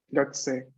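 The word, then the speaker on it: 学生: Gakusei. Se Es, pronuncia, pero poca en realidad.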